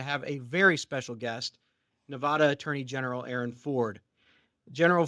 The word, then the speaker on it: Nevada: visit us out here it's Nevada that's how we pronounce it as opposed to Nevada I'm just saying if you come in say Nevada you might get an upcharge and I can't do anything about that that's not price dodging it's just like literal that's a consequence of pronouncing the name wrong and then secondly I'll